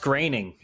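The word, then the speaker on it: Groening: at that yeah it's it's pronounced graining gring gr I don't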